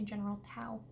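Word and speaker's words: General Tso: I personally know it as General So, but I've heard people say General Tao.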